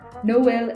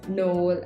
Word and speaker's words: Noël: other examples Noël and naïve. if we didn't have this tréma in these words we would have pronounced it as noel and naive.